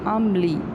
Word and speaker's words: عملی: عملی عملی, عین زبر میم ام, لام چھوٹی علی, عملی.